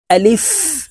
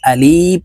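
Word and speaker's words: ألف: রাহমানির রাহিম আলিফ আপনারা আমার সঙ্গে বলুন আলিফ আমরা অনেকে এই আলিফের উচ্চারণ টেনে উচ্চারণ করে থাকি এভাবে পড়ি আলিফ এভাবে টেনে পড়ি এভাবে টেনে পড়লে সঠিকভাবে আলিফের উচ্চারণ হবে না আলিফের উচ্চারণ উপরের দাঁত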